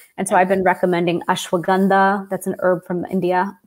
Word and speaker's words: ashwagandha: And so I've been recommending ashwagandha. That's an herb from India, spelled ashwagandha as well, pronounced ashwagandha as well.